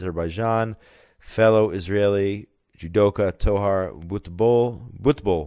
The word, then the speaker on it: judoka: some good and positive news here to Israeli judoka so that's how it's pronounced judo experts champions took home gold and